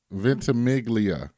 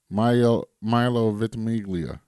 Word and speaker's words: Ventimiglia: Ventimiglia. Do it again. Milo Ventimiglia.